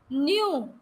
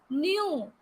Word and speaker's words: knew: Then Knew. मुझे पता था. Knew. K is silent again here. It is not knew. It is knew.